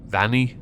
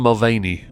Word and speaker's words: Mulvaney: Vanny? I'm going to go with Dylan Mulvaney because in Black Flag Assassin's Creed there's a pirate called Vane, and it's spelt V-A-N-E.